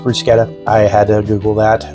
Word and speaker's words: bruschetta: We're going to put our bruschetta together, and it is pronounced bruschetta. I had to Google that. We always called it bruschetta.